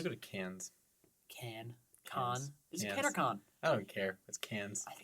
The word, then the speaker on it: Cannes: like it's a noise can whatever what ago though I think an entourage they pronounced it cons but i'm pretty sure it's can where where's Kasdan prince